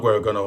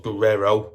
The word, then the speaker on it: Guerrero: He's got like three names, but Roberto Guerrero. So not Guerrero, obviously. Roberto Guerrero. Or it's an I-O, so it's Guerrero.